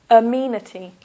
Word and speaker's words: amenity: the first word is amenity so that's four syllables one a me this is a uh sound uh meity here is the stress Amity amenities so you